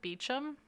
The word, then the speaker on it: Beauchamp: Now, Dudley's ghost has been spotted sitting around Beauchamp Tower. Beauchamp? I Beauchamp. think the English actually pronounce it Beecham.